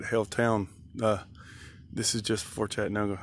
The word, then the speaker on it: Haletown: And as I said, this is Haletown, H-A-L-E, not Hailstorm, spelled the same way. H-A-L-E, but Haletown.